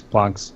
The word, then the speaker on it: Planck: But if you're going to get technical, like Max Planck's name would be pronounced Planck if you're German, but I mean, if you're taking with American accent, it's going to be Planck, no matter how you look at it.